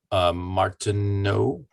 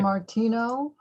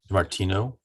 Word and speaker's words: Martino: And Martineau. Is Mr. that- Martino, Martino. Yeah, it's Martino is the way I pronounce it. It's basically French, but the T is silent.